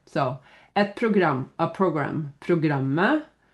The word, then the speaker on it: programmet: So, et program, a program, programmet, the program. Remember, don't say the T.